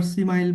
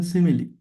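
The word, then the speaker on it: simile: অনেকে আবার সিমাইল বলতে পারেন। কিন্তু এটা ভুল। বলবেন সিমিলি।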